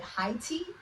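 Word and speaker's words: Hayti: is called Haiti or they call it heti it's spelled ha A Y TI and in the I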